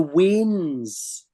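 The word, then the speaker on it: weans: and in Scotland we call the children the WIS and it's spelled w ANS and that's short for we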